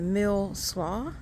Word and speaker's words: Mill Slough: This is called the Mill Slough Dog Park, if I'm pronouncing that right.